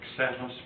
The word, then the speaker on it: xeno: Do you know what the word xenos means? Or xeni? Mm-hmm. Foreigner or stranger? It's mispronounced in English when people say xenophobia. It's not a Z, a Z, it's an X.